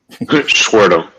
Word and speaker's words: Schwertel: Schwertel. Schwertel. Yeah, that's German. Yeah. You pronounce it way better than I do anyway.